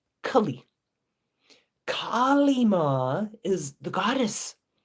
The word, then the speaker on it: Kali: And then there's short A, short I, Kali.